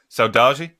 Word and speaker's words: Saudade: Okay, it's SAU DADE. Saudade. Yeah. But you pronounce like G. Saudade.